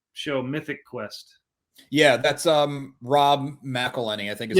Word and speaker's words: Rob McElhenney: Yeah, that's Rob McElhenney, I think is how you say it.